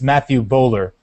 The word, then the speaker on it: Matthew Bowler: I just wanted to thank the person who sent us a question, and I mispronounced his name, so I'll correct it here. It's Matthew Bowler, and we can go.